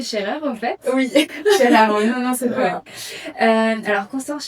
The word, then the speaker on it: Schaer: J'ai bien prononcé Scherer en fait. Oui, Scherer, non, c'est pas.